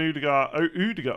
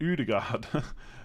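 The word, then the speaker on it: Ødegaard: Rashford and Odegaard. Why did I say it like that? Odegaard.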